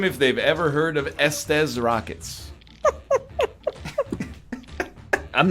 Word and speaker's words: Estes: Like suck these I don't pronounce rockets. it that way. It's Estes.